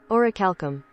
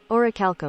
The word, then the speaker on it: orichalcum: Pronounce. Orichalcum. Orichalcum.